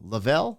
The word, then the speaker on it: Lavell: Lavell.